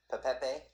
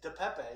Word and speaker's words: DePepe: So you're hyping Pepe? Is that how you say it? DePepe, yeah. For those listening, is Pepe. Spell it. DePepe. DePepe. Not just Pepe.